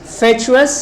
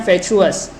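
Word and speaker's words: fatuous: आज के सेशन का पांचवा शब्द देखते हैं, फेचुअस या फेचुअस। दोनों इसके प्रोनाउंसिएशन हो सकते हैं।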